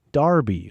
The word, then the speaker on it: Derby: Coffee from Andrew from Derby, UK, over there in the UK, says, hey, Jesse, hake darn done in Arkansas on me. Derby is actually pronounced Darby over in the UK.